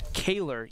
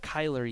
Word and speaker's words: Kaler: Kaler Yates, not Kyler Yates, so I'm sorry, it's Kaler Yates, number 14.